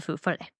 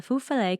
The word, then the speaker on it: Feu Follet: a story of the Feu Follet coming from this pirate belief. I keep feeling like you're going to say Foo Fighters. I know. Well, that's how I remember how to say the first part.